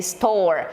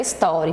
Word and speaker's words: store: Não é story, pelo amor de Deus. É store, certo?